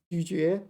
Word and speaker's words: 咀嚼: But in this word it's 嚼, 咀嚼, to chew.